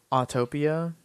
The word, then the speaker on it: Autopia: We should have went on Autotopia. Love that one. Autopia?